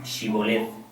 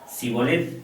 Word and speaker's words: shibolet: le decían ahora pues di shibolet y él decía sibol porque no podía pronunciarlo correctamente Entonces le echaban mano